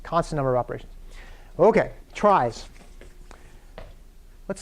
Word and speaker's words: trie: So we're going to talk about this type of tree, which has the unfortunate name of trie, right? Even though it looks like it should be pronounced tree.